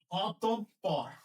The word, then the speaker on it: অতঃপর: এরপরে ওই যে আগে শিখেছি মাঝখানে বিসর্গ থাকলে কি হয়? বিসর্গের ঠিক পরে যে বর্ণটা থাকে সেই বর্ণের দ্বিত্ব উচ্চারণ হয়, তাহলে কি হবে? অ অতঃপর অতঃপর অতঃপর অতঃপর অতঃপর।